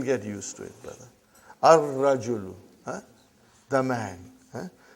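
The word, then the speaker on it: الرَّجُلُ: Ar-rajulu. Huh? The man. Huh? Not al-rajulu. Huh? It will be wrong to say al-rajulu. It will be ar-rajulu. We won't pronounce lam. Why? Because it is a sun letter.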